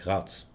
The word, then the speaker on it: Graz: to tell you that it's pronounced Graz, with a very long A and a very soft Z. You pronounce it more like Graz.